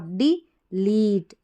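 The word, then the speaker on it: delete: इस ई का नहीं, डी के बाद में जो ई है इसका तो शॉर्ट, डिलीट, डिलीट, ऐसे ही।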